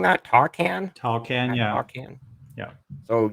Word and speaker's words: Tawcan: Uh, how are you pronouncing that? TAWCAN? TAWCAN, At yeah, TAWCAN.